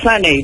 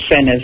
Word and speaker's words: Sena: Yes, it's actually pronounced Sunny, but most people pronounce it Sena, so I just let it go.